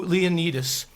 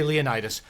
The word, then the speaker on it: Leonidas: The disabled man comes to Leonidas, because that's how you say it. I refuse to say Leonidas.